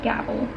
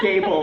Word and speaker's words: Gable: Beautiful People by Michelle gabble gabble is that how you say it Gable I'm sure Gable I said it wrong to I guess look that